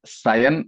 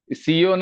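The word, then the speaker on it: Sion: ബോംബെയിലും ഉണ്ട് ഒരു സിയോൺ അതിനെ സയൻ എന്നാ വിളിക്കുന്നത് സ്പെല്ലിങ് അല്പം വ്യത്യാസം ഉണ്ടെന്നേയുള്ളൂ ഈ കഴിഞ്ഞ ദിവസം ഒരു മലയാളം ദിനപത്രത്തിൽ സിയോൻ എന്ന് തന്നെ എഴുതി വന്നിരിക്കുന്നത് ഞാൻ കണ്ടു അത് തെറ്റാണ് ഉച്ചാരണം തെറ്റാ അത് സയൻ എന്നാണ് അതിന്റെ അർത്ഥം എസ് ഐ ഒ എൻ ബൈബിളിലെ സിയോൻ സെഡ് ഐ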